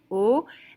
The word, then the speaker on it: au: Au restaurant, so AU in French is pronounced au, and au is a contraction of à le.